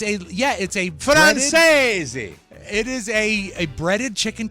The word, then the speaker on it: Francese: Last night for dinner, I made Martha's Best Chicken Francaise, and we were arguing about how to pronounce Francaise. I thought it was Francais. But it is an Italian-inspired dish. Really? So it's a breaded, Francese.